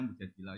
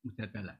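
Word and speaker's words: المجادلة: Yang benar itu bacanya mujadilah yang level A. Tapi umumnya orang baca apa? Mujadalah itu.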